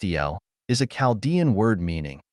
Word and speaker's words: Al: Al, pronounced El, is a Chaldean word meaning, among other things, God or the Great One.